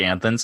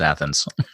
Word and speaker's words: Athens: it always kills mean you're like anthems I'm like it's Athens no you don't understand only which works but that's a damn fair enough I understand that there's no N in there and you're pronouncing an end that doesn't exist yes and that's how